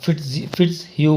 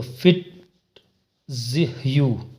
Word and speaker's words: Fitzhugh: अब फिट्स ह्यू वर्ड है, फिट्स ह्यू, तो फिट ह्यू, एच साइलेंट हो गया और एच जो है वो अपवर्ड चला गया। फिट्स ह्यू में फिट्स ह्यू,